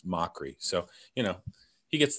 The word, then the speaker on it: Mochrie: People say Mochrie or McCackery, and it's Mochrie.